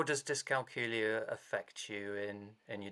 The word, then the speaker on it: dyscalculia: out that you have dyscalculia okay so i found out i had dyscalculia which is pronounced to rhyme with julia um when i was